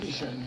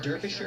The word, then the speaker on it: Derbyshire: Or is it Derby? Derby? Yeah, I know it's Yeah, an you know what, man. I know it's an E, but pronounce it an A.